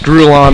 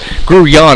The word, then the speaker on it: Grullon: needs to focus on Josh grullon because gruyon excuse me we had that pronunciation discussed here at Timberwolf 9